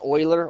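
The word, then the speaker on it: Euler: the shapes meat um this this is pronounced Oiler Oiler theorem he's a famous mathematician he came up with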